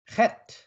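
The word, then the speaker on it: ח: 다음은 울타리라는 의미를 가지고 있는 햇라고 합니다. 햇. 그래서 흑. 제가 이렇게 히읗 발음과 키읔 발음을 동시에 하는 햇. 흑. 그러니까 좀 이렇게 목구멍이 좀 뭐라고 할까요? 좀 이렇게 날카롭게 이렇게 숨이 나오는 그래서 영어에서는 이것을 CH 발음을 합니다.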